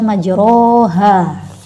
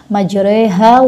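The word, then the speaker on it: مجراها: dibaca fathah tetap dilafalkan secara Fatah seperti biasanya jadi dibaca majroha Bismillah hirohman Jero Hawa mursaha Nah itu bacaannya soba diriwayatkan dari Imam ashim kalau kita Kita kan pakainya riwayatnya Hafidz ya Jadi kita bacanya bismilahi majreha wa mursaha Nah itu contoh riwayat-riwayat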